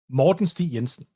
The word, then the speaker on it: Morten Stig Jensen: should have asked you correct me on the pronunciation your name please like in in a real Danish accent yeah please okay Morton St yenson Morton St Yensen am I allowed to